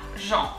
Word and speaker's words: Agent: So instead of agent, we have agent. So A is A, like if you're surprised. A, A, Jean, E-N is en, agent, the T is silent, agent.